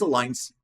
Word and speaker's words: align: Ou this aligns perfectly with our mission. This aligns. Então, temos a palavra align. A gente não pronunciou esse G, tá?